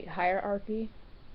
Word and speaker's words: hierarchy: Hierarchy: umm it's supposed to be "hire-archy" but that's... three syllables instead of two.